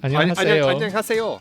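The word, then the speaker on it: 안녕하세요: Annyeonghaseyo. Annyeonghaseyo.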